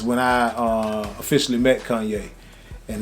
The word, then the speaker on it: Kanye: was like man who the hell is this kane west guy i never even though it was